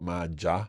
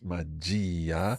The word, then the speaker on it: magia: It's not magia, Sì. it's magia. Sì. So magia. Sì, and here we can really emphasize that I because that's where the stress falls.